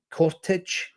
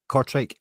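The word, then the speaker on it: Kortrijk: Uh, Cottage, is that how you pronounce it? Cortri.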